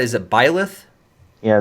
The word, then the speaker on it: Byleth: And Greg, how do you pronounce it? Is it Byleth? yeah, it's Byleth.